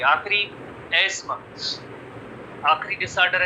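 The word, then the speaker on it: asthma: में इसे कहते हैं अस्थमा कहते हैं, बट इसका जो सही लफ्ज है एस्मा, प्रोनाउंसिएशन है एस्मा, एस्मा, एस्मा, अस्थमा नहीं है।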